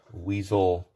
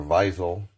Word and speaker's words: Wiesel: is on the afv-club weasel or Visal if you pronounce it in German one toe so let's